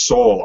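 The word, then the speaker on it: Soule: be by Charles CLE oh Charles soul I found out it's actually how yeah it's how it's pronounced because I I was reading I saw an interview by uh uh through DCL All Access and Greg Pac pronounced It soul I'm like so it's pronounced Soul all right um that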